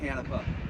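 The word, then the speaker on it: Canepa: vice president David canipa C N EPA uh pronounced uh canipa you know before I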